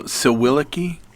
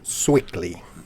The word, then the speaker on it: Sewickley: So Sewickley, is that how you pronounce it? Sewickley. Sewickley.